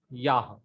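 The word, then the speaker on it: יָהּ: Yah. Very proper pronunciation is Yah because there is Makip in He.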